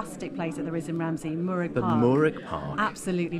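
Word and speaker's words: Mooragh: We were having a bit of a debate about Murrick, how you actually pronounce with a K, isn't it? Murrick Park.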